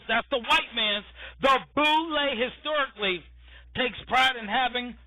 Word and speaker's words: Boule: itself is spelled b o u l e Bole that's how you pronounce it was formed to bring together a